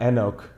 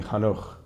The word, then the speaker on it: Enoch: Um, and in Hebrew, not Enoch, it would be Hanukh.